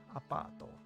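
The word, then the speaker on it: アパート: You got pa, and then extension, and then to.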